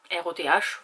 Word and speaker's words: Roth: R-O-T-H, vous le prononcez comme vous voulez.